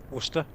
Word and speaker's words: Worcester: How do you pronounce it? Worcester.